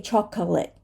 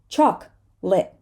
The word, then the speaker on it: chocolate: right dark L people chocolate chocolate We're not gonna say chocolate we're gonna say chocolate chocolate and Catholic we're not